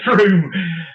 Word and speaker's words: Frome: It's not from. I know it was. No, it's to me it was from. It's Frome, and if you read on the internet, apparently it's one of the most mispronounced town names in the UK.